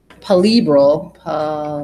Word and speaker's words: palpebral: me look at it I just learned how to say this word actually I thought it was really cool Polly bral the palpebral no I was